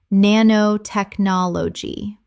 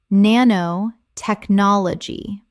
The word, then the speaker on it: nanotechnology: Common mispronunciation: nanotechnology. Correct pronunciation: nanotechnology. 7 syllables with the stress on the fifth.